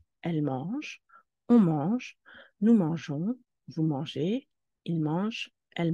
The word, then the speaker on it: mangeons: mange on mange nous mangeons vous mangez ils mangent elles mangent sans la lettre E la prononciation serait nous Mango mais nous voulons nous mangeons donc nous ajoutons l'autre